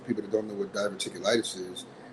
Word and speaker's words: diverticulitis: I know several years ago you were diagnosed with a rare medical disease, diverticulitis.